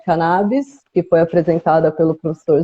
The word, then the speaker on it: cannabis: Foi inclusive lá que eu escutei pela primeira vez a pronúncia cannabis no lugar de cannabis, que foi apresentada pelo